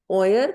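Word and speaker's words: euer: क्या यूज करना है, ओयर या ओयरे। क्योंकि ये ओए का कॉम्बिनेशन है ईयू का या एऊ का, तो आप इसको बोलेंगे ओयर।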